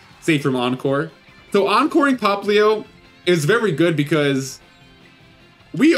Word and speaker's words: Popplio: I do know that it's pronounced Popplio, but I am going to continue pronouncing it Popplio, because that just feels better for me.